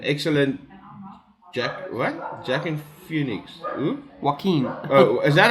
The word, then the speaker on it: Joaquin: Joaquin. Oh, is that how you pronounce Yeah, it?